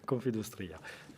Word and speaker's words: Confindustria: Je l'ai bien prononcé ? Confindustria. Confindustria.